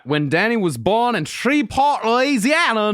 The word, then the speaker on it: Shreveport: When Danny was born in Shreport, Louisiana, not 65.